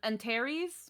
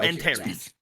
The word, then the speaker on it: Antares: it or and um antares kind of like ant oh and harry's okay i have it written as antares so antares yes with the passing